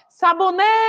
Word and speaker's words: sabonete: seguindo agora a nossa palavra é sabonete Ops sabonete Qual foi a sílaba que eu demorei mais falando ó o